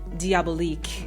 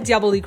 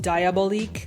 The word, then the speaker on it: Diabolique: try it again I said diaab leak wrong in my previous video I think that was the cabinet of Dr Caligari I said diabolique so I know I'm probably going to get crap for that but this is me saying I'm sorry I've learned how to say it and after that comments